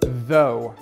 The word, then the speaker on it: though: Though. Обратите внимание на первый звук. Он звонкий.